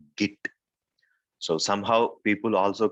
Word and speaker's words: git: might say uh they might pronunciate this also as jit because it's git not jit so we have to